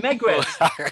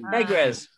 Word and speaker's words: Megrez: Okay, next one, Megrez. Yay. Megrez.